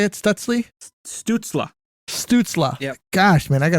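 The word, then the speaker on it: Stützle: Stutzla.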